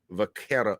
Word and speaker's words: Vaqueros: I have some exciting news for you about the UT Rio Grande Valley Vaquero. You pronounced it very nicely.